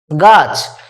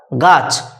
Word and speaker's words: গাছ: ভাষার একটা বৈশিষ্ট্য হচ্ছে শব্দের শেষে অ লিখি কিন্তু উচ্চারণ করি না যেমন এই যে গ আকার ছ গাছ এটাতে যদি দেখো গ